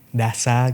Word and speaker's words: Dassa: Ya kalau bacanya Dasa gitu mas, kami ngebuatnya seperti itu.